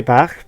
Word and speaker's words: Bach: I want to say Bach because that's how you were saying in Wales. This is where I live. In Welsh, Bach is how you would pronounce that word, and it's short.